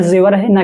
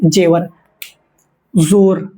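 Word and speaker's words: ज़ेवर: सही उच्चारण जेवर है ना कि जेवर। जोर जोर का मतलब होता है बल या शक्ति।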